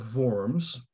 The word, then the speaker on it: Worms: con cordette of worms not worms as we want to pronounce it but it's a it's the german city of forms which is going to